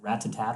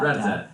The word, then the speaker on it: rat-a-tat: And he likes, I never know how to pronounce it, Rat-tat-tat. Is it Rat-tat-tat or Rat-tat-tat? Rat-a-tat. Rat-a-tat? Yeah.